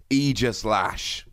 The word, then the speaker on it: Aegislash: done my due diligence and it is definitely pronounced aegislash now this is coming in the upcoming forbidden